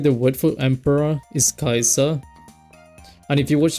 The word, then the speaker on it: Caesar: like Julius Julius Caesar which you don't really pronounce like Caesar you pronounce it as Kaiser.